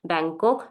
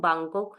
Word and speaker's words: Bangkok: is same in both the languages this is Bangkok and uh you can pronounce in German bangok as well and Bangkok also okay so next